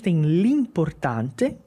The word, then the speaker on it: l'importante: Gara ma partecipare ok l'importante l e apóstrofe então a gente sempre vai conectar na fala depois vem que é